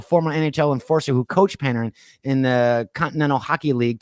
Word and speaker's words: Panarin: Now I don't know how to pronounce this hockey player's name. Panarin? Is it Panarin?